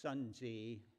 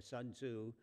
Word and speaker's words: Sun Tzu: world usually in english his name is pronounced sun zee or sun tzu but he was a